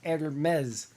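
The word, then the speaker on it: Hermès: They carry the hottest brands like Louis Vuitton, Chanel, Gucci, and Hermes. Hermes, which is not spelled like Hermes, it's spelled like Hermes.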